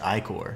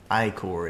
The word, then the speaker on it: ichor: So, I've heard a lot of dumb pronunciations, but I thought ichor was the term. It's actually ichor, so interesting. Ichor it is.